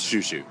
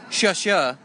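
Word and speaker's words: Xiu Xiu: led to a 10-minute long discussion about proper pronunciation of this band's name oh it's shushu shushu yeah I thought it was shasa which means thank you in Chinese well it's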